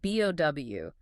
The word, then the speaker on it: bow: Think about B-O-W. Is it pronounced bow, like a ribbon you tie? Or is it bow, like when you bend forward after a performance?